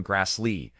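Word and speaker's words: Grassle: Karen Grassel, pronounced Ky in Grass Lee, was born on February 25th, 1942 in Berkeley, California.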